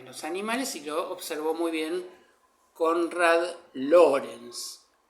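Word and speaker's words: Lorenz: observó muy bien Conrad Lawrence. Se escribe L o R e N Z porque es un Lawrence eh alemán, mejor dicho, austríaco, no es como Lawrence de Arabia, ¿no?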